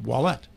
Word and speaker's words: Ouellet: through the years and it's pronounced wallet it is right I